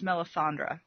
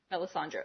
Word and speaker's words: Melisandre: didn't actually say her name her name is melisandra Melisandre okay I want to come back to her